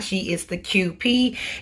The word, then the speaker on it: Kewpie: not she is the qp it's pronounced like the letter is q and p but it's spelled k